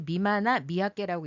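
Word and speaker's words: ミマナミヤケ: 한자로는 여러 개를 쓰는데 그거를 일본말로는 다 똑같이 미마나 미야케라고 읽습니다. 발음을 일본말로는요.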